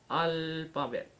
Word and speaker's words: alphabet: For example, alphabet. Al is stress, pa is unstressed, and bed is stress.